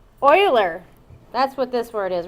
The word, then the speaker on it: Euler: Oiler that's what this word is right here Oiler it's Oiler and I all a lot of you will want to say uler and even later in the future you'll see